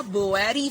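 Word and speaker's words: Boari: बोरी फ्लैप कह लें या बोएरी फ्लैप कह लें, कुछ भी प्रोनाउंस कर सकते हैं।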